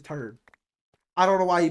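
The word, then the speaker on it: Terd: And yes, his name was Turd. That's his name. It's T E R D and that's why he's pronounced as Turd.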